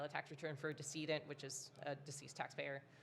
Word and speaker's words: decedent: tax return for a decedent, which is a deceased taxpayer. Um, not pronounced decadent. It's spelled d e c e d e n t.